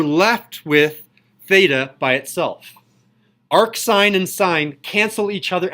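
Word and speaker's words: arcsine: This is pronounced arc sine.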